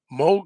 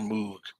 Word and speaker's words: Moog: Moog synthesizer is spelled with two O's. I want to say Moog. I think even the Beatles called it Moog synthesizer. But what I've heard is that's not the correct uh, way to pronounce it. It's Moog.